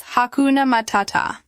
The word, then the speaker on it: Hakuna matata: The stress pattern is very important. It's hakuna matata. Notice how we emphasize the second syllable in each word.